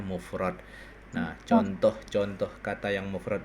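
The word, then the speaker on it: مفرد: Jamun jam jam jam'un ya bahasanya patah ini dua golongan ini judulnya ya mufrodun mufrad dibacanya mufrad nah contoh-contoh kata yang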